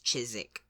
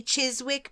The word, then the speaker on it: Chiswick: Chiswick I would say but it's chisik chisik yeah it's in Southwest London it's so it's you know I would say Chiswick but that feels really wrong because it feels Chiswick it feels very like uncomfortable to have to make that s sound and Then followed by a w yeah Chiswick Chiswick it